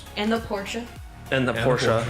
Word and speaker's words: Porsche: And the Porsche, where I found out that's how it's actually pronounced, not Porsche.